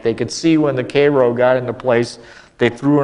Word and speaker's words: Cairo: would look at his Cairo but in Illinois we don't pronounce it that way we pronounce that word Cairo and the Cairo is